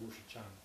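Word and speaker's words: Wu Shichang: My tutor was a man called Wu Shichan. How do you pronounce all that?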